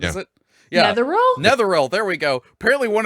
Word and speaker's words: Netheril: near though what is it yeah the rule netherreal there we go apparently one of their floating